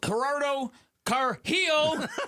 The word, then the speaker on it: Gerardo Carrillo: Gerardo Carrillo. Yeah, just that, like that, Vic.